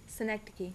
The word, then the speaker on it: synecdoche: something is made for the entire thing repeat synecdoche yes synecdoche you said it right had to